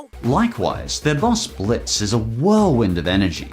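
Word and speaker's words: Blitzø: I'm Blitzo, the "O" is silent.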